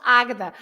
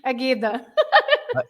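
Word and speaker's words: Águeda: Also with an accent on the A. That's why you Yes, pronounce Agda. Otherwise, Agada. it would be Ageda.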